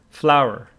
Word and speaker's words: flour: okay so it is flour it is pronounced like flour but you know that the context here tells you it is this one not that one yeah flower yeah flower